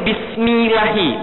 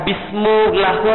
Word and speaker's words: Bismillahi: Tapi kenapa bacanya ini Bismillahi, bukan Bismillahu atau Bismillahu?